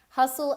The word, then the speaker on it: hustle: Hustle and bustle, again, there is a silent T in hustle and a silent T in bustle. So this is a city